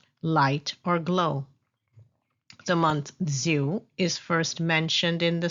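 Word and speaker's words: זיו: However, in the Hebrew text, it is pronounced Ziv.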